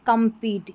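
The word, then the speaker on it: compete: ई है यह है कंपीट सी ओ एम को कम पढ़ेंगे यहां पर है कंपीट यहां पर भी ई का उच्चारण बड़ी ई के रूप में हो रहा है नियम के मुताबिक यहां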